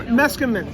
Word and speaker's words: Meskimen: going to ask you before we started, Jim Meskimen.